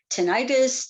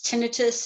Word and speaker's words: tinnitus: what's often called um tinnitus tinnitus it depends on how you want to pronounce it it's it's called that way variously depending on what side of the pond you happen to be on and um i've got